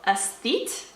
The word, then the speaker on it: Aesthete: I just had to look up how to pronounce the word in the title. The Digital Aesthete.